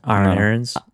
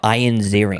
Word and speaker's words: Ian Ziering: Aaron Aarons. No, Ian Ziering. Oh, It's spelled Ian, but it's pronounced Ian.